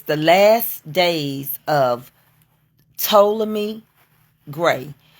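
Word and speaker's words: Ptolemy: the last days of toam me gray the p is silent but it's p t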